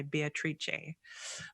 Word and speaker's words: Beatrice: my nun sister beatrice she actually insists that you pronounce it in the italian way beatrice but we'll call her